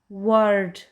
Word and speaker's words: word: Always remember, whenever OR come just after W, we will say R. Let's look some examples. W, R, T, word.